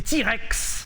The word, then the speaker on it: TRX: En plus, il existe en TRX prononcé T-Rex 77 chevaux dans un pickup.